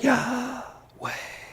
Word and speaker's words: Yahweh: you say that word it can only be pronounced by breathing in and breathing out so when you breathe in y way say that try that way it's it's the only way to properly pronounce it because there's no vowel sounds so it's been said